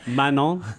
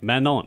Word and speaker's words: Manon: called Mano Mano man not man spell it's spelled like man and yogurt yeah Manon yes okay Manon and it's a m is that M Mano